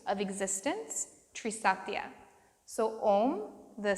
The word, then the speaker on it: Om: the syllable ohm or the mantra ohm is chanted in three syllables each syllable having representation of one of these sathyas one of the tree Sophia's so ah symbolizing creation ooh symbolizing life or preservation and finally mmm symbolizing destruction or death so as we chant